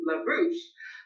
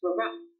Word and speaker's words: Laroche: Oftentimes people think it's LaRouche, but it sounds like posh. Laroche.